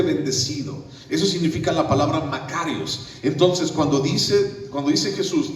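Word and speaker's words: μακάριος: griego, es la palabra Makarios, así como Macario, pues, Makarios con K.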